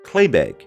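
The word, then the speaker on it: claidheamh beag: This is a short sword that is pronounced Claybeg in Gaelic.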